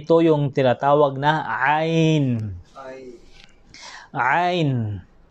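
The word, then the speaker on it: ع: At kabilang ito talaga sa mga letra na mahirap bigkasin. Okay? Mahirap talaga bigkasin. Ain. Ain. Yung sabi nga nila ay talagang parang sumakit lang yung lalamunan kung paano mo siya bigkasin.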